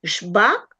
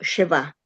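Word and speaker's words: שְׁוָא: Se dice shba o sheva. Justo lo vamos a ver hoy. Lo correcto decir va. La e hay que pronunciarla.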